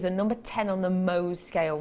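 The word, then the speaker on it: Mohs: number 10 on the mo scale MO is spelled m o HS if you've never heard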